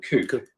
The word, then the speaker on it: COUPE: It's COUPE, isn't it? It's called COUPE. Yeah. There's no accent on the E, otherwise it'd be coupe.